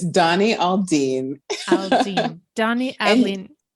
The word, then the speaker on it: Aldine: I mispronounced your last name could you please pronounce it for me once more it's it's Donnie Aline Aline Donnie Al it's not comp you said